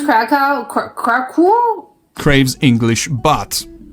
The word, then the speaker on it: Kraków: It will never be a no matter how hard it Oh, that's how you pronounce Kraków Kraków?